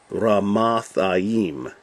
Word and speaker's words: Ramathaim: But in Hebrew, they always put the emphasis on the last syllable. So this would actually be zophim. And this is Ramathaim.